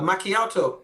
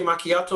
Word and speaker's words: macchiato: To me, it doesn't sound as though the word is pronounced like that. A macchiato.